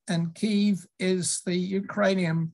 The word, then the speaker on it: Kyiv: and pronounced kiev and it turns out the kiev is the russian uh spelling and pronunciation and kiev is the ukrainian pronunciation uh when uh virtually